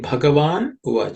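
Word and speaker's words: भगवान्: at some letters ban this has to be emphasized with extra breath okay um as aspirated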